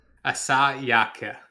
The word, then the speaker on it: Asayake: Do you want me to pronounce it? Yes, please. I do the French, you do the Japanese. Asayake.